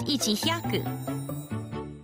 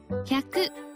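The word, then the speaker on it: 百: This isn't pronounced ichihyaku. Hyaku.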